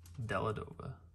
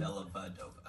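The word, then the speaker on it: Dellavedova: Matthew Della Dova. Is that how you pronounce it? Della Vadova. Della Vadova, yeah, okay.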